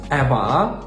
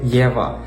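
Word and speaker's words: Eva: на літеру є тобто замість еваа говорите Єва замість евро говорите євро тут потрібно запам'ятати що якщо в чеській мові написана літера Е то вона і вимовляється як звук е друга помилка ставити наголос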